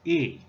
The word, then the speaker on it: 乂: cut Chinese pronunciation is e e having tone number four okay let's do this